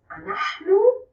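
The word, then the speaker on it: אנחנו: So you might hear we say it like this, anachnu, or mostly as anachnu.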